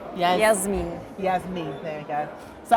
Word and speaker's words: Jasmien: Jasmien. Yeah, I've got a habit of calling her Jasmine, which is how we pronounce the name in the UK.